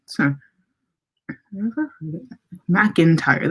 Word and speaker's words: McIntyre: McIntyre. That is how you say that name.